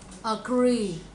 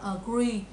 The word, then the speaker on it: agree: Cái này không phải là y ngắn trong tiếng Việt mình. Trong tiếng Việt mình không phải đọc là agree, mà cái này là y mà cái miệng mình nó sẽ dẹt theo chuyện ngang.